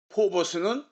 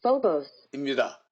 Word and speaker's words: Phobos: 포버스는 우리말 사전에 외래어 표기로 된 발음이고요. 실제 발음은 Phobos입니다.